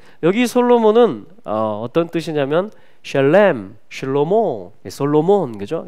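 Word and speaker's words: שלמה: 그것을 그 이름을 이제 성경 인물들 중에 실로모 히브리 발음으로 하면 실로모가 이제 그 이름이 됩니다.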